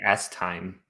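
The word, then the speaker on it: Estimé: at all now that I know how to pronounce his name AEI you want me to talk about steami yeah yeah yeah say s Time s time how some respect for this poor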